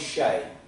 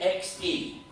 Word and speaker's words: Xe: makeover is so good they've renamed themselves shay but don't waste your time going and googling shay not yet anyway not until i tell you how to spell it because you know you think shea s-h-a-y they spelt it x-e but don't go googling